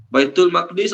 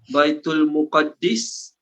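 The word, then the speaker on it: بيت المقدس: Baitul Maqdis ada 3 cara baca. Baitul Maqdis, Baitul Muqaddis, Baitul Muqaddas. Semua boleh.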